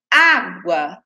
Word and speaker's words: água: A penúltima sílaba, que é a sílaba onde está apenas o A, é a mais forte.